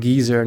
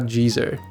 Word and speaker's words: geezer: that keyboard as well I think it's called geezer not Jeezy he doesn't have an